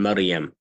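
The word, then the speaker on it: مريم: The ra in Maryam. Right? Ra has the taqreer, that sound, okay?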